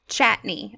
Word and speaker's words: Chatigny: So, everyone out there listening in today, we have Chatigny here with us. Did I say your last name right? close, it's Chatigny. Chatney. Okay, so the G is like silent.